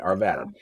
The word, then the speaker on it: Arvada: which we'll get into later there is um Arvada am I pronouncing that correctly Arvada Arvada Okay Arvada so tell us about Arvada Colorado so Arvada Colorado I've actually I've lived in Arvada Colorado since 2010.